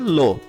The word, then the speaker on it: le: লো এল ই এটার উচ্চারণ হবে লো, এল এ লা লা, এল ই এস লে।